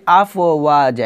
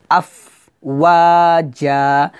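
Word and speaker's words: أفواجا: فِي الصُّورِ فَتَأْتُونَ ওয়াজা এখানে একটা ভুল করি এখানে বলি আফ ও ওয়াজা এটা বলি তো আফ ও ওয়াজা বলা যাবে না বলতে হবে আফ ওয়াজা মানে আফ বলে হামসা উচ্চারণ করে একটু থেমে যাবে থেমে তারপর ওয়াটা বলবো আফ ওয়াজা এভাবে আমি আবার বলি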